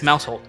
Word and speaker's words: Mousehold: so uh the the it's mousehold then to get back on somewhat of track it's mousehold as to pronounce it uh yeah mousehold uh